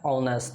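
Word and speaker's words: honest: का क्या होता है ऑनेस्ट ये इसका स्पेलिंग एच से शुरू होता है लेकिन इसका जो प्रोनंसिएशन है उच्चारण है अ से शुरू होता है अ क्या होता है वेवेल साउंड होता है और वेवेल साउंड के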